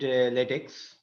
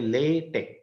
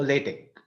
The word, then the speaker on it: LaTeX: letic actually um in the beginning somebody said leex uh but uh the people who make a big fuss about uh how to pronounce this particular word they say lat Tech okay as if it is l a y